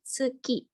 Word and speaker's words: tsuki: Karena ini bukan diucapkan su tapi se. Oke. Ini minasang, ada yang bisa baca contoh kosakatanya? Tuki. Oke, betul. Ini ya tsuki.